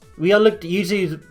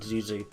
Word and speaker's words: Yuzu: We unlocked Yuzu's booster pack, and I am going to say Yuzu. Like, I might interchange between Yuzu and Zuzu, but Yuzu is the way that I've learned how to say it. I'll be honest with you. Even though it reads Zuzu, I'm going to be saying Yuzu, because one, I actually think it sounds better.